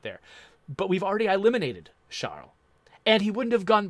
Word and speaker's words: Charles: of the Frenchman however he would have pronounced it shall or something like that child it's hard to do an R followed by an L in French if you're an English speaker so sorry anyone who